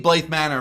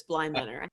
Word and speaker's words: Bly Manor: Whoa, that would have made Blythe Manor much better for me, but that's. You said it wrong too. It's Bly Manor.